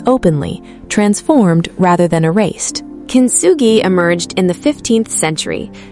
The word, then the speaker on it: Kintsugi: The concept is Kintsugi, pronounced Kintsugi, written with 3 characters, kin, meaning gold, tsu, meaning to connect or to join, and gi, meaning technique or method.